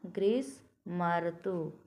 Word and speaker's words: ग्रीष्मर्तु: क्या उच्चारण होगा, ग्रीष्मर्तु। म में अ है और यहाँ है र, और ग्रीष्मर्तु। अब ध्यान से उच्चारण पर ध्यान देंगे, ग्रीष्मर्तु, मर्तु यानी और इसमें जुड़ गया है। अगला उदाहरण क्या है, देवधन ऋषि।